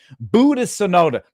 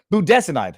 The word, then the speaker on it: budesonide: icin hydroxychloroquine Zac tlu buod I want to pronounce that one wrong budas budesonide that's what it is along with a nebulizer